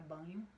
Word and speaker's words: Bagno: do linguística marcus banho se escreve bagno mas se pronuncia banho com o nome tá